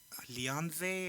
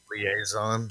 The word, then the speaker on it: liaison: You're gonna be my Leonze or what do they call that shit? Where you're like the in betweener? Liaison.